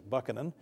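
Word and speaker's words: Buchanan: notoriously corrupt and James I believe the correct pronunciation actually is bucanan and Andrew Johnson uh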